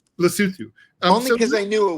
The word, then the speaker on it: Lesotho: Or, Lesotho, whose name I mispronounced, and I know you pronounce correctly. Lesotho. Lesotho.